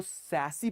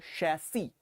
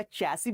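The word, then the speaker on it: chassis: इसको सैसी पढ़ते हैं, सॉरी शैसी, शैसी या चैसी भी पढ़ सकते हैं।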